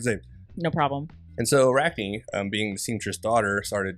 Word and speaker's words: Arachne: I always say Arachne, but I think it's Arachne. That's how it's pronounced. It only has one E.